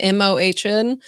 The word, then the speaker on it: Mohn: I think that's how you pronounce his last name, Mohn.